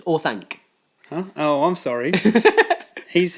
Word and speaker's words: Orthanc: That's not how you say it. It's Orthanc.